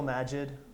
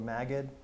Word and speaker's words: Magid: Hassan Elahi, Trevor Paglin, Jill Majid, or Magid. It's not me not remembering how to pronounce her name. She changes it back and forth sometimes.